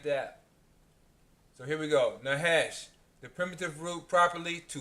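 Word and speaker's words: נחש: How it's pronounced. Strong's H 5172. Nahash.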